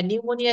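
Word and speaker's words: pneumonia: এম ও অর্থাৎ নিউ এখানে পি কিন্তু উচ্চারিত হবে না নিউ হ্যাঁ নিউমোনিয়া লিখতে গেলে তারপরে সুনামি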